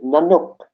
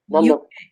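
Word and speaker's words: nanuk: Is Nanook. Oh. N-A-N. N-A-N-U-K. Nanook.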